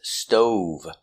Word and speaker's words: stove: Our first word is stove, making the long O sound.